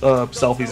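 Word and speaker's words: Selphie: I mispronounced Selfie's name. I thought it was Sophie for some reason.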